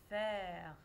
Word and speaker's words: faire: Mais est-ce que je prononce la lettre E à la fin du mot? Non, alors c'est le mot faire.